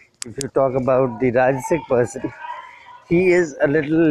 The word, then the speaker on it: राजस: Next in the same line is rajasic प्रकृति या राजस. राजस को कई बार लोग also मतलब pronounce करते हैं as rajas. It is not rajas, it is rajas.